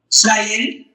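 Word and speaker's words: זין: Zen. That is the zen. Correct. That is your hard Z as in zebra sound in the Hebrew.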